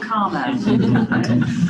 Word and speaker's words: CCRMA: Oh, CCRMA.